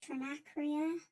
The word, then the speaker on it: Trinacria: I then took some time out to try to learn how to pronounce this fancy word. Trin trinacria.